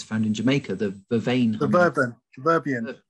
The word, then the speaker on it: Vervain: I thought it was verbian. Vervain, but anyway.